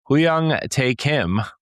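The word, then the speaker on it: Hyung-tae Kim: Both Mikami and Shift Up CEO Huyang Tae Kim, that's how you say it, emphasized a shared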